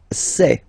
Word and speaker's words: sais: Je sais. Okay, final S not pronounced, and then you get this A-I, E. Okay, je sais, sais.